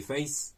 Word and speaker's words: face: contre la team des faces, hein. Moi je prononce face, hein, à la française.